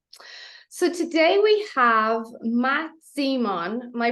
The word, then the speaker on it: Zemon: So today we have Matt Zemon. Am I pronouncing that correct?